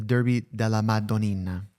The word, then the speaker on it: Derby della Madonnina: This is, the Derby della Madonnina. Okay? That's how you pronounce it.